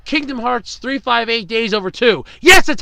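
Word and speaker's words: 358/2 Days: Kingdom Hearts Chain of Memories, Kingdom Hearts 2, Kingdom Hearts 358 Days Over 2.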